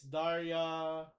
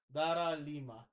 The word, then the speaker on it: Dara Lima: She is Daria Dara Lima. Sorry for mispronouncing that. Dara Lima.